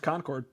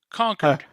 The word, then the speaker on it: Concord: through the Concorde Concorde everybody pronounces that as quite everybody I've ever asked pronounces that as kept as Concord okay you know how we pronounce it in New Hampshire dank or no conquered conquered yep you know what it